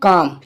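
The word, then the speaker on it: comb: करें मैंने क्या बोला एम के बाद में आया हुआ बी प्राय साइलेंट रहता है जैसे एग्जांपल के तौर पे ले लेते हैं हम काम ठीक है काम काम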